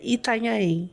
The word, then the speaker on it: Itanhaém: Não, é Itanhaém. Gente, repetindo esse nome pela milionésima vez, pois sou do Rio. A gente fala muito nhen, nhen, on. A gente aumenta as sílabas.